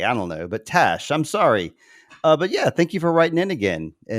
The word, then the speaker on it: Tash: It's pronounced like Ash, but with a T. Tash.